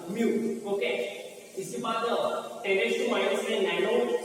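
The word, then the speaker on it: mu: इसे प्रोनाउंस यम और यू दोनों एक साथ बोलना, म्यू.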